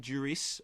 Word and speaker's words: Duris: And so what we have now is this really pretty terrific film with a great central performance by Romain Duris. I think you do pronounce the S.